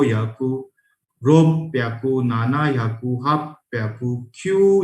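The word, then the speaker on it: 六百: योन याकू, गो याकू, रो प्याकू. यहाँ पे pronunciation again ROPPYAKU. रो प्याकू.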